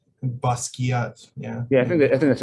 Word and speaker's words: Basquiat: I think they say Basquiat. Yeah. Yeah, I think that's how they say it. Yeah, I don't know. You should say Basquiat. Oh, really? Demeure French prononciation.